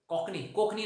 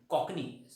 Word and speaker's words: Cockney: कोकणी नाही, कोकण नाही, कॉकनी spelling is given.